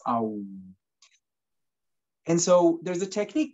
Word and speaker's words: Om: And the most basic echo of the universe is said to be that of Om, more correctly pronounced Aum.